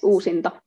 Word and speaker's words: Uusinta: I have to try to pronounce it the right way. Uusinta? Yes, Uusinta.